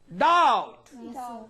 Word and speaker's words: doubt: You don't pronounce B here. Yes. Bed. Doubt.